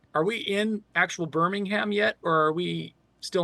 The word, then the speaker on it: Birmingham: grocery store I'm like are we in actual Birmingham yet or are we still on the outskirts